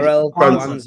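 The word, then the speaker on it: Jarell Quansah: Jarell Kwanzaa, yeah.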